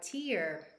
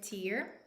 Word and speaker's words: tear: and the past participle form torn when we pronounce this word uh tear it's a noun it has a different meaning it means when a liquid flows down your eyes when you are crying so again tear why do arguments with you always reduce me